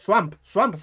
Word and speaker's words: swamp: Swamp, de pronuncia bien. Swan, no. Swamp. Si dices Swan es cisne, Swamp es pantano.